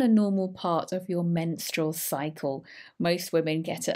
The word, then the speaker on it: menstrual: and pronunciation in particular menstrual menstrual so this is stroll at the end muscle cramps muscle notes